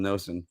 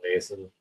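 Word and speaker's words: Noesen: I can tell you what, Anthony always gets Stefan Nason's name wrong because he always calls him Nosen. Stefan Nason.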